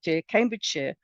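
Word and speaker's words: Cambridgeshire: such as leerer York Cambridge Shear are pronounced the sheer not Shire the Shire belongs in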